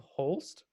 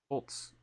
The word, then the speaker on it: Holtz: Gustav Holst? Holtz. Holtz. Okay, because Gustav Holst is a composer in the 1900s. I wish I could claim that, but no, it's spelled differently.